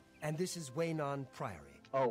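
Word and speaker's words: Weynon Priory: And this is Waynon Priory. Oh, Waynon Priory. I've been mispronouncing the whole time.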